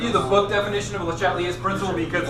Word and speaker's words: Le Chatelier: If you want to call him Le Chatelier, that's fine too. It's pronounced Le Chatelier.